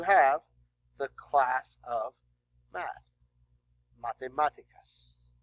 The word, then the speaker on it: matemáticas: Matemáticas. Oops, accent on the A.